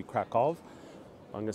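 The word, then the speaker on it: Kraków: krackow I'm gonna say krackow I'm gonna stick to my English pronunciation um though if I were to pronounce it in the proper polish it would be kov I'm going to say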